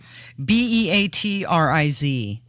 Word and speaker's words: Beatriz: what's her name beatritz okay how do you spell it b-e-a-t-r-i-z Beatriz seems like there used to be more